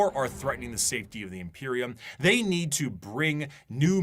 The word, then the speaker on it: Imperium: How to pronounce How to pronounce imperial? I feel like I'm saying it wrong. Imperialism. Imperism. Is that how you say it? Imperium. Imperium.